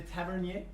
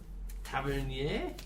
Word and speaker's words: Tavernier: Jacques Louis de Tavernier. Louis Louis. de Tavernier. Mm-hmm. Tavernier. Tavernier. So it'd be like an IER.